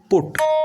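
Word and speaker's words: put: ওই দুটো যেমন ব্যতিক্রম ঠিক সেই রকম পি ইউ টি পুট এটাও কিন্তু ব্যতিক্রম হিসেবেই তোমাদের মনে রাখতে হবে তাহলে পি ইউ টি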